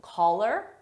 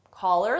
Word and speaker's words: call her: Now, did you hear call her? Maybe to you it sounded like one word, collar, collar, like a dog collar. That's because we dropped the H sound on her and it sounds like